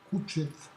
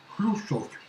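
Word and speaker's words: Хрущёв: Eh bien, c'est tout simplement le prénom d'un grand homme que certaines personnes appelaient Khrouchtchev.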